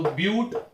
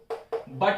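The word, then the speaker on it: but-: 4 carbon है तो ब्यूट, बट नहीं होगा ये, ब्यूट होगा, ब्यूट, ब्यूट पढ़ते हैं इसको, प्रोनाउंस क्या करते हैं, ब्यूट, ठीक है।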